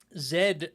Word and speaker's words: Zed: They reached out to me to specifically tell me how to pronounce that, because it's just Z, the letter Z, as us uncultured Americans pronounce it, Z.